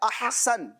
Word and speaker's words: احسن: اس نام کا جو تلفظ ہے, درست تلفظ, وہ ہے احسن. کیا ہے؟ احسن. اس کو احسن بھی پڑھتے ہیں, جس طرح لوگ احمد پڑھتے ہیں تو احمد نہیں ہوتا, احمد ہوتا ہے. تو اسی طرح احسن نہیں ہوتا بلکہ کیا ہوتا ہے؟